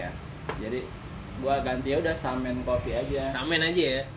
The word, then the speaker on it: samen: Bacanya SAMEN, dibacanya Samen. Samen.